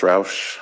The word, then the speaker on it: Roush: We have a contract from Mayland for, is it James Roosh? Yeah, James Travis Roush, I believe. This is how he pronounces it.